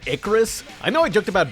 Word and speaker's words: Icarus: Icaros? As in Icarus?